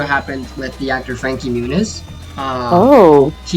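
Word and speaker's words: Muñiz: with the actor Frankie Munis um Oh, he's half Puerto Rican. Actually, his last name is Murice, spelled with an N that has a little swiggly on it.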